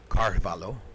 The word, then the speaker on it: Carvalho: All right, next up, our very own Marco Carvalho. Carvalho, I should say it correctly with my Brazilian accent.